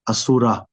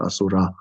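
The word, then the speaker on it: असुर: For like example, like Asura, the demigods, it's Asur, not Asura.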